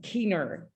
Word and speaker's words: Kiehner: And just to introduce you, and I think I wrote your name wrong, Kiehner.